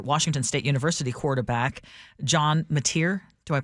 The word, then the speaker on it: Mateer: one involving former Washington State University quarterback John Mateer. Do I pronounce that correctly?